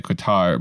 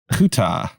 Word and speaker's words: Qatar: Qatar is the British pronunciation.